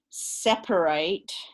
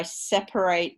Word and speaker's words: separate: they have different pronunciations this is particularly strong in words like separate so i separate the garbage um because you wouldn't say i separate the garbage right but you the adjective you always say separate you don't say a separate person you say a separate person so that eight goes all the way down to practically nothing so those kinds of